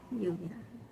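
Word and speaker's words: lluvia: Double L. Oh, then that's a Y sound. Luvia.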